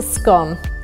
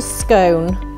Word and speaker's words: scone: room first of all it's a scum it's not a scone some people think it rhymes with coal it rhymes with God okay we've been here